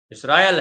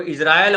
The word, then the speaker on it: इसराइल: भी बतला दें कि जो इसराइल है उसको इजराइल और इसराइल दोनों कहते हैं, इसलिए इसराइल और इजराइल दोनों एक समझिएगा। दोनों में कोई गड़बड़ी नहीं, उच्चारण का फर्क है केवल।